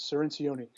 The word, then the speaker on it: Cirincione: By the way, just the last name is Cirincione. Cirincione, I know it's okay. hard. It's hard to pronounce.